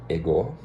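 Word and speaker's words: ἐγώ: Na verdade eu pronunciei ego porque tem um acento aqui, né? E o ômega ele é o O fechado. Então eu não sei por colocaram e go, mas é go ton.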